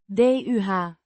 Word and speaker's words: de: DUH. A short U. sounds similar to the U in up.